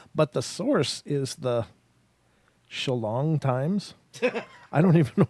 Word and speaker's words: Shillong: It's Shillong. I can even spell it in Don laughs.